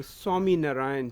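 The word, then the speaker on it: Swaminarayan: the temple out here on um can you pronounce it? Temple on 231. It is the Swami Narayan temple.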